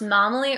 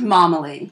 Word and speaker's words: Momily: which is great so is it pronounced na mele or mo Emily it's pronounced mama Lee okay the mom is the emphasis all right got it